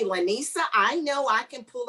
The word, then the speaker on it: Lynesa: Lynesa, but if it's, I know I've been told that it's been phonetically spelled wrong. You have to blame my parents for that, but most people call me Lynesa, and I'm like, no, it's Lynesa.